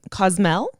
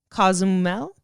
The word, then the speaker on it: Cozumel: literally imagine this yeah you're you're in cosm cosmell cozumel it's a city in mexico okay how do you spell it c-o-z-u-m-e-l i don't know don't judge me i'm sorry